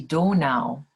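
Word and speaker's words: Donau: yeah that's this danube the river danube in german is the donal that's how you say it in german um yes i would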